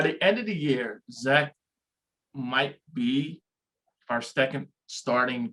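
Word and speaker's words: Zech: right well first off his name is z-e-c-h but it's pronounced zach no it's not for the guy i work with his he he grew up with his dad it's pronounced zach i thought okay once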